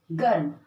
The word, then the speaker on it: गर्म: जैसे मैंने उच्चारण किया उसका, र, ग, र और म, गर्म।